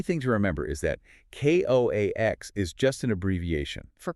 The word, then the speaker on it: coax: And the key thing to remember is that Ko Ax is just an abbreviation for coaxial. For coaxial. And because of that, it has to be pronounced with two distinct syllables.